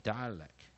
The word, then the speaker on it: dialect: rhymes 在哪里？ect 啊，ect 也就是在 ack。这个地方押韵的地方在 act，我们讲连起来发音的连音在 act。OK，来我们看 dialect，好，进阶解释 d，啊，i syllable a syllable l